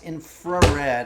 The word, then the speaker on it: infrared: to take our infrared by the way it's infrared a lot of people were mispronouncing it INF um but this refers